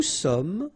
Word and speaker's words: sommes: Nous sommes, final S not pronounced, vous êtes, little liaison